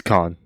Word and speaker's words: Caen: Am I saying that right? Caen. I've heard it pronounced Caen. It's Caen. Yeah. Okay, that's what I thought.